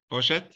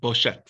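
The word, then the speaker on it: בושת: Oh, in Hebrew, it's in Hebrew, I'll spell it in both Hebrew and English. Boshes is Beis Vav Shin Taf. Boshet. In English, it would be Boshes or Et. Boshet.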